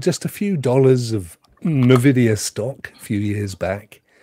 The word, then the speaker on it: Nvidia: did you know Ray Nvidia I'm still not sure if it should be pronounced I watched a thing the other day and the guy pronounced it Nidia Nidia I've always said Nvidia haven't you I see in I see Nvidia I Nidia he said Nidia as if it was an actual word I don't know anyway